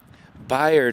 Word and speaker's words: Byard: outstanding thirds tennis players Byard Hall like such a hard time let me know it's it's rhymes with tired yep fired and that